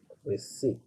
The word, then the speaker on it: receipt: you have paid for okay it's called a receipt you see it's called a receipt so the